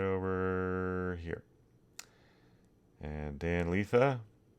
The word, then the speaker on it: Lietha: And Dan Lietha, Lietha. You wouldn't believe how many mispronunciations I've heard of over my lifetime.